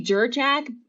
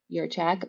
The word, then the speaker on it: Jurchak: Most people say Jurchak, but the J is actually pronounced as if it were a Y. Hmm. So it's Jurchak.